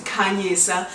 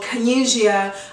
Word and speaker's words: Khanyisa: My name is Khanyisa. That is the correct way of saying my name. I know based on the accent, some people say Khanyisa. I've been called Khanyisia. I've been called. I've been called. I prefer Khanyisa or Khanyi.